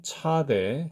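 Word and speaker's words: צדי: 자 방금 말씀드린 것처럼 차대의 발음은 s의 강세음이죠 비교 대상이 당연히 애쓰고요 일반적으로는이 소리를 이런 소리를냅니다 전문용어로 말하면이 소리는 무성 치음 파찰음이라고 합니다 이 경우에는 소리를 내실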